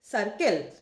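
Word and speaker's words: circle: আর second C এর ক্ষেত্রে সি এর পরে এল আছে। যেটা কিনা কনসোনেন্ট। তাই এর উচ্চারণটা হবে কে এর মত।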